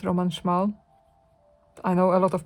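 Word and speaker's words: Roman Szmal: Roman schal it's pronounced Roman schmal I know a lot of people say Roman schal but it's schal it's a Polish name and Rosa really beautiful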